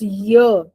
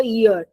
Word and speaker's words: year: Actual pronunciation है here. It's year. It's never ear.